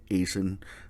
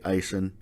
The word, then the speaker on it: Aisin: ice and has it I don't know how you pronounce it most guys say acen other guys say icing Icing water pumps have